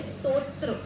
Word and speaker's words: स्तोत्र: त्र डबल नहीं है। पहले त है फिर त्र है। स्तोत्र जैसे स्तुति शब्द बना है। स्तुति शब्द का ही संस्कृत शब्द होता है स्तोत्र। या स्तवन शब्द का अर्थ होता है स्तोत्र। तो पहले है त फिर है त्र।